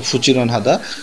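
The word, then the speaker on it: 부지런하다: দেখেন সবাই কাজ করতেছে ফুজিরন হাদা মূলত এখানে উচ্চারণ হচ্ছে ফুচিরন হাদা এটা মানে হচ্ছে পরিশ্রমী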